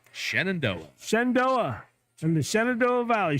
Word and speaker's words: Shenandoah: Sendo Valley how do you say it Brian Shenandoah Shenandoah Shenandoah and the Shenandoah Valley shoe Stacks uh